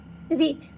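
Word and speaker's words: ऋत: रीत pronounced as रीत, okay, वो मैंने ऐसे प्रोनाउंस किया है, वॉज वन ऑफ द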